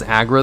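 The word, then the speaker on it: Aggra: Her name is usually pronounced as Agra, though, in-game and in text.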